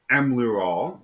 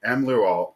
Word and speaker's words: Emlearal: You are saying it right. It is very phonetic the way it's Yeah. written. Emlearal, because not just am